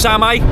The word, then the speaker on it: Same: Well, it's spelled same, but it might be pronounced semi or semi.